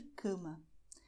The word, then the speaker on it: cama: Vamos ver o caso de cama. Cama. C é nasal. Ma é aberta. Então, cama. Cama. Cama. Por que é nasal? Porque nós fazemos que o ar suba daqui da boca para o nariz.